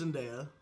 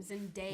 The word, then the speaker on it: Zendaya: Els actors brutals, està el Timothée Chalamet, crec que es diu així, i la How does Zendaya? I'm ripping through these. Yeah, I know. Pronounce her name. Zendaya.